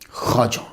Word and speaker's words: خواجہ: آجامیر کی خواجہ، اس کا تلفظ جو ہے وہ خواجہ ہے، لکھا جاتا ہے خا واو الف اور جیم آگے پھر وہ ہا، تو خواجہ نہیں پڑھیں گے، اسے خواجہ پڑھیں گے، جمع اس کی خواجگان